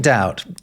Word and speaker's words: doubt: on this channel, but the B in doubt is only there because it ultimately goes back to dubitare, right? Which is Latin. Doubt was being spelt without that B in English for ages.